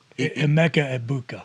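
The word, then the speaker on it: Emeka Egbuka: I won't do him the disservice of mispronouncing his name, but it's double E. Emeka Ebuka.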